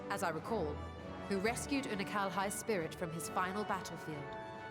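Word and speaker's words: Unukalhai: Una Kalhai? I've been putting emphasis on the wrong syllable. Una Kalhai. I was saying Anunkalai. Una Kalhai.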